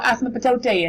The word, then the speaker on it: asymptote: called, I know it's a really silly name, A-S-Y-M-P-T-O-T-E.